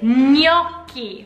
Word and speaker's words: gnocchi: Gnocchi or gnocchi, but really it's gnocchi. The GN in Italian is like a ñ sound, which is really difficult for us to conquer.